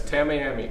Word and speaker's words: Tamiami: Tamiami, what do you want? Just like Tammy Tracy. That's Tamiami.